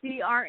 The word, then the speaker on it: Crandall: And Crandall, am I pronouncing that correctly? Yeah, Crandall.